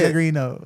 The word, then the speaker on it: Pellegrino: what's Say it right if you gonna say it. Pellegrino.